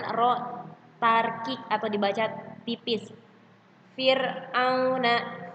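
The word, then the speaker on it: فرعون: Fir'auna, Fir'auna, Fir'auna tidak dibaca tebal. Fir tidak dibaca tebal. Fir tidak seperti itu, tapi dibacanya tarkik, tipis.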